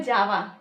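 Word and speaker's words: যাওয়া: जैसे कंप्यूटर में एक लैंग्वेज होता है जावा, तो उसी तरह इसका प्रोनाउंसिएशन करना है जावा, ठीक है।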